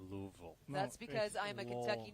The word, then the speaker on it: Louisville: at the University of Louisville nice deep return there I always feel like you didn't go to Louisville I always feel like you're swallowing the wood when you say Louisville that's because I'm a